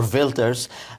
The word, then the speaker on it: Wilders: Exchange in the Netherlands K wers uh or vilters abandons plans for nexit that is the ex